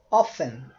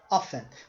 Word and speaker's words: often: Often, often. Você pode pronunciar sem o T, often, ou você pode pronunciar com o T, often. As duas pronúncias existem, tanto em britânico quanto em inglês americano.